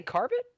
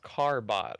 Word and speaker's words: Carbot: Did you say Carbit? On the, yeah, the portraits for Dank team is the Carbit portraits. Carbit. Are you not familiar with those? You know it's pronounced Carbot, right?